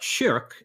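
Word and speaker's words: شرك: So the word shirk, written the same way but pronounced shirk in Arabic, means something like partner or associating a partner along with God.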